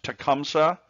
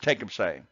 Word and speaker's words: Tecumseh: Sometimes you'll hear it pronounced Tecumseh, but it's Tecumseh.